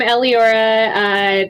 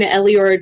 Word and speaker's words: Eleora: Hi, I'm Eliora. That is spelled Eleora. I know it's complicated, but online, Eliora draws everywhere.